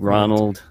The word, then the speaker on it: Rzzonald: getting information for us, take Rzzonald, the Zed is silent with you, and if you want anyone else, please go ahead.